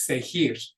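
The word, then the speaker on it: seguir: are soft sound so because we want this to be pronounced with that hard G sound there's a u in there which forces that g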